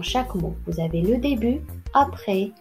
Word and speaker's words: début: Vous avez le début, après, blanc, un camp, froid. Voici la correction. Donc le début, la lettre muette, c'est la lettre T.